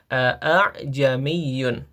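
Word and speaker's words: أَعْجَمِيٌّ: Jadi bukan a'jamiyun tapi ajamiyun. Jadi hamzah yang keduanya itu ee samar ya. tidak sejelas hamzah yang pertama wa arabi.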